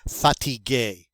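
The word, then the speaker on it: fatigué: that is fatigue and in the feminine it is still fatigue it's just spelled with an extra e so you don't hear a difference in the pronunciation you just see the difference in the spelling but they're both pronounced satige and what is fatigue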